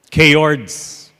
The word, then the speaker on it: chaord: He greets them, and he says this, "Welcome, K-Ords." And he remained silent to let them think about what he just called them. He called them a K-Ord. A K-Ord is spelled C-H-A-O-R-D.